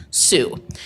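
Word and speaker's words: Sioux: could understand which was the final syllable Sue and so that's how the the the Dakota people for many Europeans become known as the sue their historical lands took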